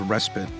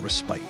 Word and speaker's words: respite: next word is respit yes it's pronounced respit and not respite respit is a short